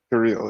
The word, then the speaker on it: Kirill: Kirill is the Russian pronunciation, yeah.